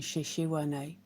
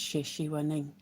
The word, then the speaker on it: Sheshiwaning: I had gotten the last part of her name wrong, and I was saying Sheshiwane, but it's Sheshiwaning, and I don't know if the last part is silent, but yeah, I found her.